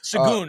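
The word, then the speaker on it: Şengün: And then John Pollock says, Sengun, is that how you say his name? Yes, Sagoon. Sagoon. I think Sagoon is about right.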